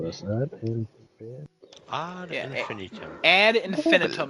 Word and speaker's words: ad infinitum: Ad Infinitum is how it's pronounced.